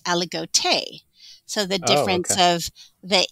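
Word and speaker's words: Aligoté: different way oh okay so i have always pronounced it allegot yeah that's what i would say okay and then on their wine label and also talking to the winemaker he says aligote so the difference of the e the french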